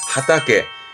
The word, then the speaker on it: 畑: 논을 의미한다는 거 밭은 화전 요게 밭이었다 거죠 발음은 하타게 그래서 일본어의 경우는 논과 밭이 다름이 있다라는 거